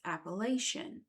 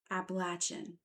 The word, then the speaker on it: Appalachian: of this beautiful land, it hurts my ears and my heart to refer to them pronounce that way. So, from here on, I will be referring to them as I've always heard from birth, Appalachian.